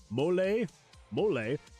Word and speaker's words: mole: They have a recipe called mole, pronounced mole, and it is a chocolate-based sauce with a spicy kick.